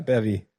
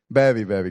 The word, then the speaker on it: Bevy: Yeah, so let's go deep about your new venture, Bevy, or B-Bike. How should you pronounce that? Yeah, Bevy. Bevy, great.